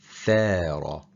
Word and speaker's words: ثار: If we switch out ثار and we pronounce it as سار, the meaning completely changes. It goes from the nation revolted to the nation walks slowly.